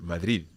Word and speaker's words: Madrid: Yes, about Madrid, there is another, it's kind of the same rule, but when you have the R after a consonant, normally it's pronounced as the R1 that we had.